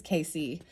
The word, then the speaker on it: Edgar Cayce: was really inspired by Edgar Cayce. I think that's how you say it. It might just be Edgar Cayce, but I think it's Casey.